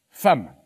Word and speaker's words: femme: Un jour, l'instituteur nous a dit F-E-2-M-E se prononce femme. Mais j'ai dit à l'instituteur, il n'y a pas de A dans femme. Ah, bien vu, c'est exact. Mais c'est comme ça. Le E de femme se prononce A.